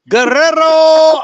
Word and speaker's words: Guerrero: see what he's pulling Guerrero B that's how you say it properly Jody pay attention B you gotta roll your let's see here I'm